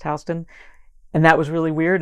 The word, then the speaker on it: Houston: i was on houston street and yes it's pronounced houston and that was really weird and that blew